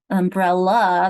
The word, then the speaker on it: umbrella: Umbrella, that's a schwa because it's swallowed.